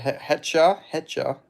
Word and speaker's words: Hetcher: We got Hetcher, not Hector, Hetcher.